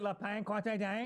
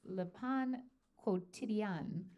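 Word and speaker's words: Le Pain Quotidien: Is it La Pan Quante Dang? Yeah. Dang. Although there's a new trick that Carney taught me, so it's Le Pan Quotidien.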